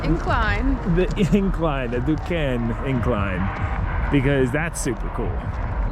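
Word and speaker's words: Duquesne: go do the DU duen incline the incline the duen incline because that's super cool yeah we had to look up how to say it because it's a little confusing du it's French 1877 this has been here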